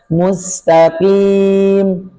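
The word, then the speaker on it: مستقيم: Kemudian mu manyun mu karena domah mu depannya sin tipis musl musl muslm hati-hati dengan qof enggak boleh dicongkel karena banyak orang kebiasaan mustaqim mustaqim enggak demikian cukup dibaca mustaqim taqim qim qim gitu Ya, kita akan baca ayat 6.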